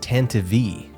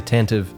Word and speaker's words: Tantive IV: And the correct pronunciation really is Tantive V. I've used it in other videos, but it sounds so silly and I always used to say Tantive.